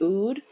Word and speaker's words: oud: So I know, a lot of people use, I think it's pronounced oud, or O-U-D, rose, lavender.